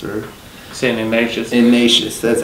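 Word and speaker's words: Ignatius: a three-point loss to San Francisco School San ignaas or san ignacious ignacious that's how you pronounce it uh but uh Buck for them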